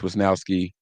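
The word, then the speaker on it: Mitch Wishnowsky: Jake Moody, Mitch Wisnowski. Oh, I said it right.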